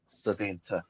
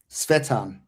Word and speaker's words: Svetan: Savint. Is that how you say it? Savint? Svetan. Svetan. Like Shetan. Yeah.